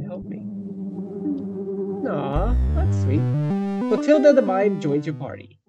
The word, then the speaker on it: Clotilde: Okay, Google Translate is telling me it's pronounced Clotilda? The E is pronounced like an A, which is kind of odd.